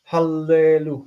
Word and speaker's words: hallelu: Why are you reading this as eh? Hallelu. Because that's the English is creeping in. That's the... Oh, or are you asking why I'm separating it? Okay. Because there's 2 laments back to back. We want to make sure that we pronounce both laments that are present.